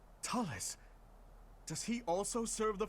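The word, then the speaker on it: Thales: Okay, so it's pronounced Talus. Talus?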